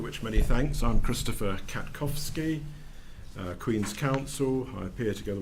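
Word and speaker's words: Katkowski: firstly for the appellant we have uh Mr kakovsky um please correct me if I've mispronounced that uh could you introduce yourself to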